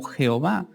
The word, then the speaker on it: Jehová: o encontrar una traducción, se mezclan la palabra YHWH con las vocales de Adonai. Y así obtenemos el resultado que en español se puede traducir como Jehová o Yahová.